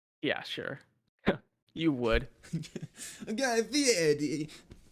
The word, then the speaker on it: Guy Fieri: I think the Guy Fieri look is gonna be insane.